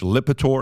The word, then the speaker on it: Lipitor: listen, excuse my English being my 5th language, Lipitor.